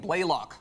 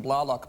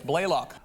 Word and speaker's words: Blalock: It's actually Jolene Blaylock. Okay, I said the Canadian pronunciation Blalock, but it's Blaylock.